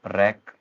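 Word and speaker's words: wreck: डब्ल्यू कब silent हो जाता है, जब किसी वर्ड की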